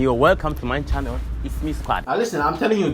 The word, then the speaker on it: IXME Squad: The channel is called IXME Squad, but I think it's pronounced It's Me. you're welcome to my channel, It's Me Squad.